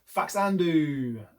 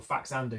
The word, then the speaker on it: Faxanadu: All right, Faxanadu. Is that how you pronounce it, or is it Faxanadu or Faxanadu? I don't even know. I'm going to say Faxanadu or Faxandu. That's how I've always called it.